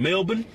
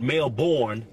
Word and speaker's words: Melbourne: Australia in April we doing a show in Melbourne that's right I pronounced it right not Melborne it's melbour it's mab right we go in